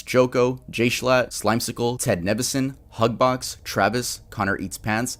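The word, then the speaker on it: Nivison: I am so used to calling Ted Nevison Ted Nevision, but I get corrected a lot.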